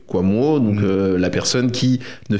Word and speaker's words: Kouamouo: simplicité c'était justement qu'il s'écrit exactement comme il se prononce oui quamo donc la personne qui